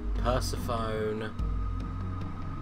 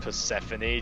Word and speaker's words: Persephone: Persephone. Founder and boss. Ahmed. Rattlesnake. It's pronounced Persephone, James.